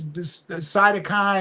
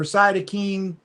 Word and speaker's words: cytokine: And that's cytokine or cytokine. It's pronounced both ways, storm.